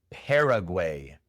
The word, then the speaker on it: Paraguay: En inglés se pronuncia Paraguay. La primera A se pronuncia E. Paraguay. La segunda A es la schwa. Pera. No pera, sino pera. Y la última A también es como una E.